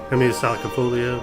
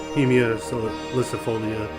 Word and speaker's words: Heimia salicifolia: For a long time, I used to call it Sinicuichi and Heimia salicifolia, but I've learned how to pronounce those correctly. It's Sinicuichi and Heimia salicifolia.